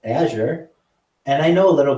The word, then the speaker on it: Azure: know anything about that I know how to say it Azure and I know a